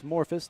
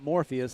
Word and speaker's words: Morphus: here in Lane one Candace morphus not Morpheus as I accidentally pronounced on one of our other shows we got the promoter